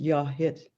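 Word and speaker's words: Yáay Hít: and whale house so whale house is pronounced yah hit in clinkett and so i can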